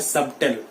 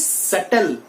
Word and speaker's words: subtle: ऐसे ही normally we people use टू से इट एज सबटल, but that is wrong. यहां पे भी जो बी है वो साइलेंट है my dear students. The बी is silent over here, so इट इज सटल नॉट सबटल।